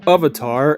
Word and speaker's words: avatar: this one a bit the word avatar is from a concept in hinduism or avatar as it's pronounced in hindi apparently hey the last airbender